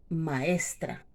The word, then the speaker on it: maestra: o el siguiente ejemplo maestra yo digo maestra buenos días maestra buenos días maestra buenos días maestra maestra maestra maestra está la fuerza aquí y cómo está en la penúltima sílaba es una palabra cerrada